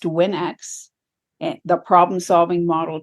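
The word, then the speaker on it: WNX: so the title is it looks like Winks because it's spelled w NX I'll tell you that story when you ask me about challenges as an author um but it is actually pronounced Winx and the problem solving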